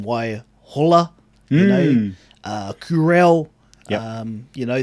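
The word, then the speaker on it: Waihola: uh you know you look at the name why holla you know kurel you know those place names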